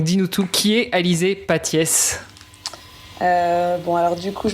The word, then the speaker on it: Patiès: Alors du coup, ça se prononce Patiès vu que c'est un nom italien, on prononce toutes les lettres. Mais j'ai tendance à mettre un accent pour que les Français prononcent le S.